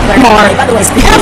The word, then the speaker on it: Maher: How do you say his name? Maher. More.